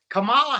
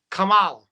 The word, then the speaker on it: Kamala: I don't know if you realize it, but Kamala Harris has been complaining that people have been mispronouncing her name, and it's racist, she says. Not my words. These are her words. She says, my name is Kamala.